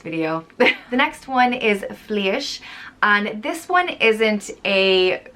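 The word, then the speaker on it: Flidais: the next one is fleisch and this one isn't a direct meaning of a nature word but fleeish was the goddess of nature or cattle and wild things and it's pronounced flea ish it's spelled f-l-i-d but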